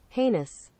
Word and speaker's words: heinous: days you can do this and check your pronunciation penis there we go listen penis heinous heinous heinous and as i've said to you before